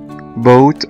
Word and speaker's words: boat: تعالوا ناخد ده بالامثلة، مثلا في كلمة boat او قارب مركب B-O-A-T، الاو هنا حرف متحرك والاي كمان حرف متحرك، اول حرف فيهم هو حرف الاو فنطقناه بشكل ممتد وبقى long vowel والاي بقى silent.